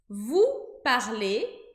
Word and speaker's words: parlez: Vous parlez, EZ, o E e o Z. E a gente também não pronuncia o Z da mesma maneira que a gente não pronunciou o R quando o verbo estava no infinitivo.